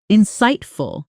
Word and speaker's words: insightful: Say the stress with me. Insightful. The weight landing on that middle syllable.